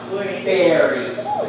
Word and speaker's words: buried: do you know that it's pronounced berry just like strawberry okay so hey you're gonna be buried tomorrow okay how about